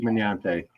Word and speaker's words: Minante: They say Minante. Minante. That's how it's pronounced. Miniante. Steve Minante.